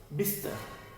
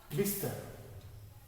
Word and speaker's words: बिस्तर: स्तर, इस स का उच्चारण कम है, देखोगे। बिस्तर, इस स को हम कम देर के लिए पढ़ रहे हैं क्योंकि ये स आधा है। क्या बोलेंगे? बिस्तर, ये स हम कम देर पढ़ रहे हैं।